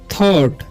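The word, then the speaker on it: thought: ही थॉट, ठीक है, यहाँ पर जी साइलेंट है, ठीक है।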